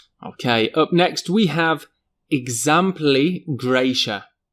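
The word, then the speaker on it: exempli gratia: Okay, up next we have examply gracia. Now the t i a there is slightly strange but generally we just pronounce this eg and often this is used in writing.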